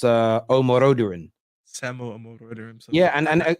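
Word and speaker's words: Omorodion: They're also linked with the young striker at Ati, and I think it's pronounced Omoroduran.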